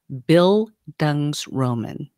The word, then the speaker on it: bildungsroman: but it's called a bildungsroman build i mean just as it i mean just as it's spelled right there bill dung's roman now this is a